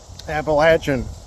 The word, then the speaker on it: Appalachian: going to love the Appalachian Trail appalachin say it right but yeah 85 at